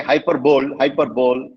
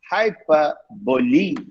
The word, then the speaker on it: hyperbole: Many say hyperbole. It's wrong. It's hyperbole.